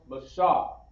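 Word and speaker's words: משה: Okay, we have Moses, which is pronounced Mashah, right? With the characters Ma, Shah, and Ha. Okay, Ma, Shah, and Ha. You put that together, Mashah.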